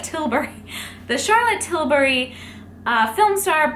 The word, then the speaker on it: Tilbury: I keep saying Charlotte Tilsbury, but it's Charlotte Tilbury.